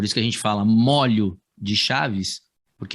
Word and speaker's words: molho: Aí aquilo que eu falei para você, ó, o molho como condimento tem o o fechado. Agora, se for feixe, né? Feixe, que é uma quantidade de objetos, né? Por isso que a gente fala molho de chaves, porque é